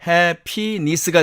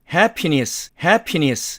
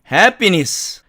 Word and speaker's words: happiness: 그래서 나머지를 가지고 이제 3음절어니까 세 개로 나눠서 발음을 하면 happiness가 되겠죠. 그래서 영국식 발음으로 하면 happiness 이렇게 발음이 됩니다.